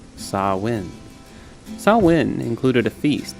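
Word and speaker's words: Samhain: festival at the end of October saw win pronounced saw win saw win included a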